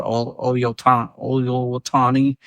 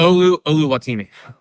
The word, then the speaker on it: Oluwatimi: Going down the line, Seahawks backup center that filled in for Oluwatani during the Packers. Oluwatimi. Oluwatani. I got you. Fact check the name pronunciation.